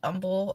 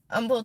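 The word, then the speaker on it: Humble: I see somebody post Umble or Umble Texas I just laugh because it kills me how the H is silent so every time you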